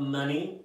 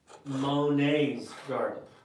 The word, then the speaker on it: Monet's: go back to that it's not money garden it's Monet's like the painter painter Armani is that